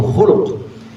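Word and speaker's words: خلق: Ini sama-sama nih hurufnya nih banyak yang sama ko lam qof. Tapi yang satu dibacanya khalqun. Yang satu dibacanya khulu. Yang satu khalq, yang satu khuluk. Kalau khalq k lam kaf tapi dibacanya khalq itu artinya fisik. Tapi kalau dibaca khuluk itu artinya akhlak. Akhlak atau budi pekerti.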